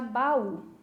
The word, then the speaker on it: baú: para vocês a palavrinha baú. Mais ou menos assim eu vou gritar, né? Baú. Perceberam que eu puxei na sílaba U? É a sílaba mais forte.